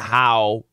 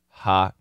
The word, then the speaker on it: how: do you like huh it's not how it's ha we know the daily pronunciation of how is huh it's gonna be a schwa it's gonna be a